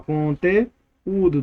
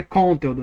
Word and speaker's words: conteúdo: A palavra não é conteudo, né conteudo, não é conteldó, é conteú.